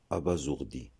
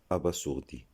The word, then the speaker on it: abasourdi: Ce mot se prononce abasourdi et non abasourdi.